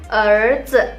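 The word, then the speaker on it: 儿子: Nah, kalau misalnya teman-teman punya anak laki-laki, panggilnya erzi.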